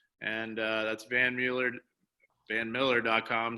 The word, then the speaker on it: Mueller: looks at it and it's actually the Dutch pronunciation which is Miller I purposely wrote your